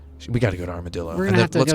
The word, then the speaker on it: Armadillo: It's actually, I pronounce it Armadillo.